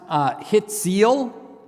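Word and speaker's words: הציל: This is pronounced hitzeal.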